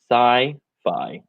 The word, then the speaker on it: sci-fi: So again, pronunciation sci-fi. The same way that you would say I am, right?